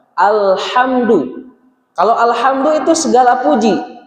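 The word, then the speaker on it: الحمد: Awas tertukar antara huruf ha tipis dengan ha tebal. Alhamdu.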